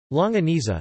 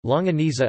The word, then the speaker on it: longaniza: longaniza Spanish pronunciation lo and e-theta or American Spanish lo